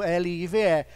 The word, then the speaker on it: live: tem uma marquinha escrito L-I-V-E. A pronúncia ele é live, porque está sendo transmitido ao vivo.